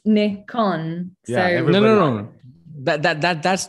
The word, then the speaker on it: Nikon: the thing is that it's a japanese word right so it comes from nippon kugaku so it's nicon that that that's not